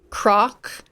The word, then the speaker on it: Krawk: Gray, like the color gray, Croc, which is spelled Krawk.